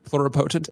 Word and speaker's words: pluripotent: Pluripotent? Am I pronouncing it?